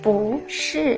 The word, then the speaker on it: 不是: But if the word after 不 is also fourth tone, then 不 need change to second tone. Here we should read as 不是 but the tone label remain the same, only the pronunciation will be changed.